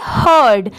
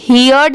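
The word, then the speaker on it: heard: forest H ई ही इसे क्या पढ़ेंगे हर्ड यहां पर इसे यर्ड नहीं पढ़ेंगे इसकी साउंड क्या आएगी हर्ड एच ई ए आर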